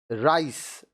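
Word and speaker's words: rice: यहां क्या है, राइस, राइस चावल, सिनेमा, सिनेमा देखिए सी के बाद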